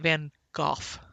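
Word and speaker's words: Van Gogh: Vincent is named after Vincent Van Gooff. That's the correct way to say it.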